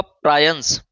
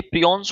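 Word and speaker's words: prions: तो ऑप्शन होगा आपका प्रायंस। प्रायंस प्रोटीन के बने होते हैं। प्रायंस नहीं है, ये प्रियॉन्स होते हैं, थोड़ा प्रोनाउंसिएशन यहाँ गलत है।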